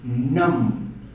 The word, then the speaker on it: numb: The next one is numb. As you can see, same thing. The B is silent.